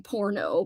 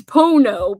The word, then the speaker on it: pono: It sounds like I'm saying porno, but no, it's pono.